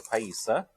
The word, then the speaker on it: Paisa: Right, so this place is called Tacos El Paisa, correct? Am I saying that right, Elmo? Mm-hmm. You want to work on the pronunciation. Pie. Okay. Like dessert. So. Paisa. No E in there.